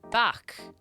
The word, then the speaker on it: beach: In Irish, it is back. But it's spelled the same as the English word for beach.